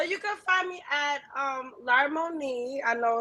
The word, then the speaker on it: Larmonie: So you can find me at Larmoni. I know it's like a little hard to pronounce, but it's spelled LARMONIE _ So, which is also in the description.